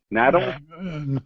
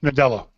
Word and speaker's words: Nadella: Nadella? Nadella. Nadella.